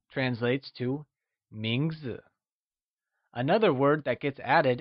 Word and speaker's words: 名字: 名字 is pronounced with a mid-rising tone. Let's hear you say 名字.